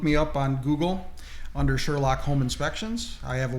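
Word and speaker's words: Surelock: That's Sherlock, but it's spelled S-U-R-E lock. L-O-C-K. L-O-C-K. Sherlock.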